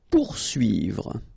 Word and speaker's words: poursuivre: Okay, so remember that when you get this combination of O and U, you will get the sound OU. Okay, so pour, and then U and I here, UI. Okay, poursuivre.